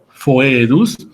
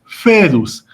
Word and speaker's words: foedus: El diptongo OE, que significa foedus, en la clásica se pronuncia la O y la E juntas, es decir, foedus, y en la italiana o eclesiástica se pronuncia únicamente como E, es decir, fedus, que significa la alianza.